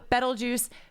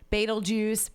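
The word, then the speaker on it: Betelgeuse: go with that but with betel juice baitul juice beetlejuice you know I I I'm gonna say I take all I think everything is good doesn't matter mm-hmm and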